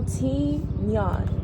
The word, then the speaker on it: tignon: How do you pronounce Tignon? Tignon. Tignon. Oh, Tignon.